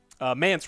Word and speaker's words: Mance: Mance rhymes with pants.